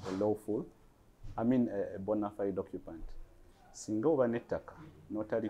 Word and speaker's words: bona fide: fide chigambo cha latin its actual pronunciation in latin is bona fide na abazungu ngabo bamani